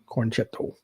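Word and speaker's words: Con-Chair-To: That's how you say it, cornchetto.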